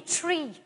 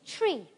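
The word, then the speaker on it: trí: She blessed me with you guys say three, and we say tree in Irish. The Irish or Gaelic word for three, which you say with very nice pronunciation, is tree.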